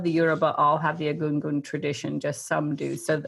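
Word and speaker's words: Egungun: If folks would like to ask anything else, there's also I'm sorry, will you say again how to pronounce the Yoruba? The Yoruba pieces? Yeah, the Agungun.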